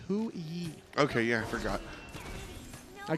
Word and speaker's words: Hou Yi: How do you pronounce the god that Cyclone's playing? Oh, it's Hui.